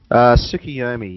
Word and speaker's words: Tsukuyomi: I'm not really an anime guy, so I think it's a Tsukuyomi, or I don't know, how do you say it? Flamewells, you're an anime guy? Tsukuyomi.